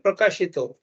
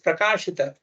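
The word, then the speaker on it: प्रकाशित: For example, we sing Divya Gyan Hruday Prakashito. It is Prakashita.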